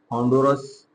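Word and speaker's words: Honduras: और यहाँ पर हमारे पास है होंडुरस, या इसको कुछ लोग होंडारस भी पढ़ते हैं, तो एज you like, which you want to like pronunciation. यहाँ पर हमारे पास है निकारागुआ, NIC लिख दिया।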